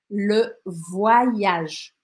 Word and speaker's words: voyage: Le voyage. Voyage. Eu escrevi aqui mais ou menos como eu pronunciaria, tá? Voyage. Esse O com Y, a gente fala why, que nem os mineiros.